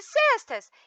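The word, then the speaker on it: sesta: pronúncia dessas palavras cestas cesta com s e com o som do e aberto é breve cochilada após o almoço tá sexta com x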